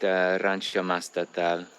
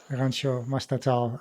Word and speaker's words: Mastatal: Is there a different pronunciation for that, or is it about right? Yeah, no, that's correct. Rancho Mastatal. Rancho Mastatal.